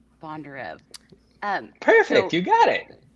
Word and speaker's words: Bondarev: Bondarev.